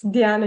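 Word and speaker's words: Dhyana: No, it's dana yoga.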